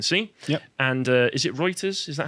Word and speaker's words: Reuters: what you can see and uh is it reuters is that how you pronounce it it is pronounced reuters yes reuters said no actually there's some misinformation there oh